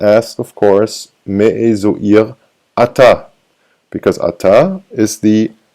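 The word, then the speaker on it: עיר: And ir, spelled with an ein here, ir, which is not pronounced, ein, yod, resh, ir. You don't pronounce the ein.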